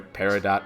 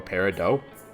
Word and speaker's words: peridot: So you said it's either it can be either peridot or peridot? Yeah, both are acceptable pronunciations.